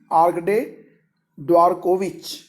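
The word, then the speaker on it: Arkady Dvorkovich: और प्रेसिडेंट है वर्तमान में आर्कडे ड्वारकोविच, ठीक है।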